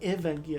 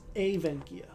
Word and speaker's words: Evenkia: So it's not Evenkia, it's Avenkia.